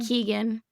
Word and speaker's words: Keoghan: Keegan, how do you say his name? Keegan.